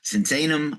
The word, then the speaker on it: Sinsaenum: You know him from Dragon Forest and Creator, but also we're going to talk about the new album in Devastation from Sensan.